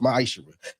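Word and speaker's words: מעשר: Means 10th in Hebrew and is pronounced ma'ashera.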